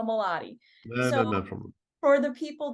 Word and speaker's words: Moladi: So for our audience, it's Modali, right? Am I pronouncing it wrong? I think I am. Modali. Moladi. I'm so sorry. I knew I was getting that wrong. So Moladi.